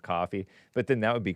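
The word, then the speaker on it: Ko-fi: is probably supposed to be pronounced coffee, but then that would be confusing because then you'd write out c o ff e.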